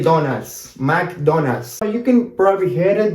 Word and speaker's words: McDonald's: Now, let's continue now with McDonald's. McDonald's in Argentina Spanish, we pronounce it really different. Not really this way. Nobody can say McDonald's. That sounds too hard to say.